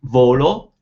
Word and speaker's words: volo: I fly, you'd say volo, but if you say I want, you'd say voglio. Completely different sounds. Volo, voglio. Volo is nice and flat, volo. Equal importance to both syllables, volo.